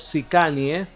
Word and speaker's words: Sicanje: en la actuación en los Sikani, más o menos pronunciado a mi forma española, que son los tatuajes que las mujeres católicas en los Balcanes llevaban.